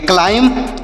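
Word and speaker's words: climb: एम से पढ़ेंगे म बी यहां पर साइलेंट है मतलब इसका उच्चारण नहीं होगा इसे पढ़ेंगे क्लाइम क्लाइम मतलब होता है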